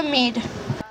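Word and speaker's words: мир: Hem escrit pau amb rus, que se pronuncia Mir.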